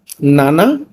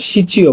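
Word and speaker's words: 七: সাতের আবার দুইটা উচ্চারণ আছে। নানা নানাও বলা পড়া হয় আবার সিচিও বলা হয়। আপনি সাতকে দুইভাবে পড়া পারেন। এক নানা দুই সিচি।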